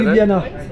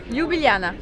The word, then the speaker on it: Ljubljana: Santé à Ljubljana. Donc voilà, je connaissais pas le nom de la ville, merci Monique. Comment tu l'as prononcé? Ljubljana.